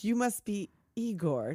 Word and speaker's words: Igor: like you must be Igor no it's pronounced Igor they said Igor well they must have